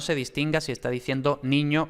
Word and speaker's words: niño: Ni es tónica, por tanto ni es ni, pero luego ño y ña es átona, entonces los ingleses van a tender a pronunciar exactamente ño y ña, es decir, ñ más schwa. pero claro, entonces no sabemos si es niño o niña.